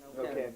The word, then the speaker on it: Neuquén: How do you pronounce that? Neuquén, yeah.